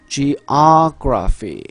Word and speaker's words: geography: 그럼 지금 화면상에서 보시면 geography 이렇게 아에 있다라는 건 geo 할 때 이 o에 강세가 있다는 얘기죠. 그쪽을 이음절로 읽으세요. geography 따라하고 계시죠?